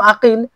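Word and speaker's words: عقيل: একজন মোহাম্মদের পিতার নাম আকিল আর একজন মোহাম্মদের পিতার নাম ওকেল এখানে দেখেন বাবার নামে পার্থক্য লিখা একই আপনি লিখতে দেখতে একই লাগবে কিন্তু উচ্চারণে আলাদা আলাদা একটা হচ্ছে আকিল আরেকটা হচ্ছে ওকেল অনুরূপভাবে সুরাহ ইবনে নোমান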